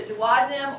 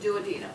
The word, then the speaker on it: duodenum: The first part of the small intestine is the duodenum, or you may pronounce it duodenum. I don't really care which you wish to do.